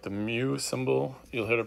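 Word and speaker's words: μ: Sometimes you'll also see it written like this, like a weird M for mean, or it's like the mu symbol. You'll hear it pronounced.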